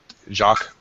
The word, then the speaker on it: Jacques: It's Jacques Lacan. It's pretty. Yeah, there's no S. Jacques. Just Jacques, kind of a funny version. It's the French version of Jack. Okay. It's spelled with a Q.